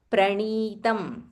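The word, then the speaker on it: प्रणीतम्: Venkata, Venkata, Nayaka Pranitam. Venkata Nayaka Pranitam. So this ni is dirgha. So you have to extend a little bit.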